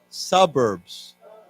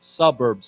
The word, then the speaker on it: suburbs: Suburbs. Remember the pronunciations on the first syllable. Suburbs.